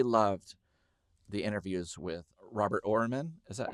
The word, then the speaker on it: Oermann: I really loved the interviews with Robert Oermann.